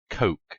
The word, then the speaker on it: Koch: co CH is pronounced coke it's Koch media not